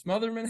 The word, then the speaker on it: Smotherman: on tonight um Smotherman Smotherman how do you say your last name you got it the second time Smotherman motherman okay perfect